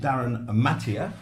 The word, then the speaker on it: Darryn Mathee: And we've got a gentleman here who knows all about it, Darryn Mathee. Did I pronounce that?